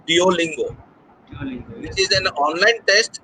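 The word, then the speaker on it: Duolingo: a billing go or you can pronounce it as do lingo which is an online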